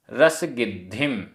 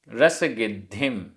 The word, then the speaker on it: रसगिद्धिम: उच्चारण कंदप्पाय आधा प पूरा प कंदप्पाय कंदप्पाय वट्टई आधा ट पूरा ट वट्टई करमाणो कर्माणो भोयणसु भोयणसु रसगद िम आधा द ध रसगिद्धिम रसगिद्धिम माई बड़ी ई है माई